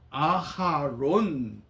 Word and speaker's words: 아하론: 있습니다 그런데 엄밀이 발음하면 모세의 형 아론은 아론이 아니라 아하론 이렇게 발음이 됩니다 우리 번역은 아론 그러지만이